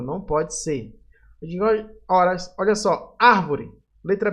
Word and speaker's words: árvore: Árvore. Letra B. Árvore. Tem acento aqui, ó, já dá para saber. A sílaba mais forte é o A, então vai ser a letra B.